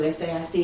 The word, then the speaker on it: SAIC: for companies including ge saic which i'm assuming we pronounce that as is it i think we just do saic it's fine you got it and hca um both